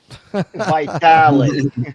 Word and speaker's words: Vitale: And, I'll get to work on making sure Steve pronounces your name properly. Vitale.